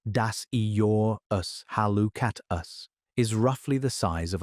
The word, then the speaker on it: Dasyurus hallucatus: The northern quoll, scientific name Dasyurus hallucatus, pronounced das-ee-your-us-hall-oo-cat-us, is roughly the size